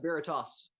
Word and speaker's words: Veritas: before I screw up your band name yeah Veritas all right because I was definitely pronouncing it wrong to start with so I